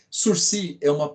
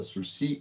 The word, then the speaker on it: sursis: Sursi a origem da palavra Sursi, ela é francesa. E a pronúncia correta na língua francesa é Sursi. Olha tanto que é chique, Sursi, tá?